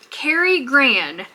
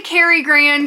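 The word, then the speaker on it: Karigran: this box today from Carrie Gran and I think I'm saying that right it might be Cari it's k-a-r-i-g-r-a-n I'm gonna say Carrie Gran because that's just how it looks to me but let me know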